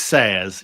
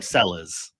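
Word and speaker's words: Sellés: places and it is sayers. You're right. But the amount of people that will call him sellers I just if you know it's double L in Spanish how it's pronounced like it's it's not Malora is it?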